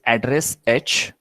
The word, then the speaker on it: ADRESH: It is address H and address L. It can be pronounced like that so that we can remember.